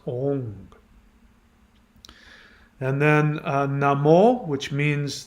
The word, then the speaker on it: Om: syllables four words are ong which is om if you see om it's actually pronounced with an ng that stimulates the pineal